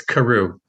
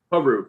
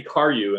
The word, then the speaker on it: Karoo: your last name yeah it's it's karoo karu okay thank you i was going to say car you and i knew that was wrong i've heard a lot